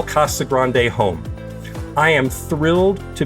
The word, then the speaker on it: Casa Grande: the city uh officially K Grande so it's Spanish and and you have you roll the r but a lot of the locals just say Cagan there's no e on it it's just Cagan so if you if